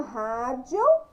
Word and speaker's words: rádio: Então, a palavrinha rádio tem acento agudo em qual sílaba? No Rá. Rá. Então, rádio.